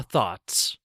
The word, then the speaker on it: though: thaw our thoughts thaw thoughts thaw those thoughts number two though English is fun though it can be difficult to learn sometimes though H though rhymes with grow we all want to